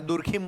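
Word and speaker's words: Durkheim: कई जगह हम लोग जैसे वहां डर खाइम बोलते हैं याय दुर्खीम बोल देते हैं हिंदी में अंग्रेजी नाम डरम है एक एमाइल डरम करके स्कॉलर है तो उनको हिंदी में जब बोला जाता है तो दुर्खीम कर देते हैं हम लोग ऐसे होता है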